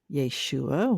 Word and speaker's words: Yeshua: Yeshua, which is the Aramaic pronunciation of Jesus.